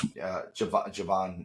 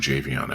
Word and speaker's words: Javon: It's Javon Evans. I don't know why I kept calling him Javion Evans, but I think because there's the apostrophe between the E and the V.